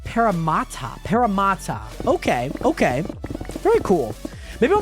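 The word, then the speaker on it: Parramatta: And yes, I think we might send her a photo, and it's pronounced Paramata.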